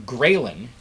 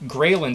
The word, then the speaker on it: ghrelin: go the other way for example the hormone ghrelin spelled like this ghrelin g-h-r-e-l-i-n is a hormone that the stomach produces when it's empty and that seems to be an appetite stimulant grayling says hey you should get food so ghrelin